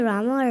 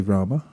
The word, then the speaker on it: Rama: matters and there are there is a syllable at the end so it's it's best to say Rama but if on occasion you don't then it's okay too but it's preferable according to